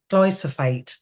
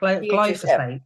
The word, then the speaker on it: glyphosate: So chapter 3 organic versus glyophate. Did I say it right? Glybo the pH is an F. Ah, glyphosate.